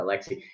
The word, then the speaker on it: Aleksi: at the Finland central bank did you what Alexei and I pronounce that right yeah Alexei I what did you say do your charge